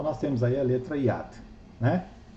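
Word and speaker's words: יד: Yad. E ela se escreve assim: o Yud, que é o Y,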